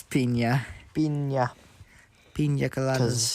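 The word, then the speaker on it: piña: But, yes, pina coladas. Pina coladas. Pina coladas. No, I wouldn't say that. Yeah. Yeah, it's pina. Pina. Pina Because coladas. the N makes an Enye sort of Because sound.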